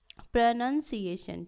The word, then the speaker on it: pronunciation: तो इसका फोनेटिक अलग होता है प्रोनाउंसिएशन, ठीक है, प्रोनाउंसी, इसमें डबल स्ट्रेस आएगा, प्रोनाउंसिएशन, ठीक है।